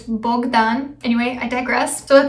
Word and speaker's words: Bogdan: bogdan yes bogdan is romanian and it's not pronounced bogdan like they do in the show it's bogdan anyway i digress so at this point in